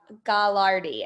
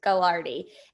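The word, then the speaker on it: Gagliardi: this is john and i think you say gallardy as i think i think that g is silent gilardi and so um he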